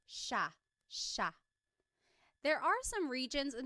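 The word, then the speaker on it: siya: It looks like it should be pronounced cia, but it's actually pronounced sha sha. There are some regions in the Philippines that might pronounce it sia, but for the most part in the central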